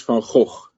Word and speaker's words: Van Gogh: In Dutch, it is Van Gogh. Okay. Van Gogh you cannot say, because that's sort of this guttural sounds is sort of typical Dutch, but that's the Dutch pronunciation.